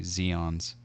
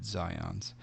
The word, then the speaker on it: Zions: it's the they say they don't say Zions one departure they say Zeon's and it's it's Zions but at the same